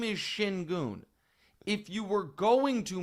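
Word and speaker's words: Şengün: He is calling him Shin Goon. He's the best player on the Rockets. He's their only Allstar. His name is Shinon.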